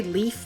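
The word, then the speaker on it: Leif: People say leaf, but I always say left. It always looks like left to me.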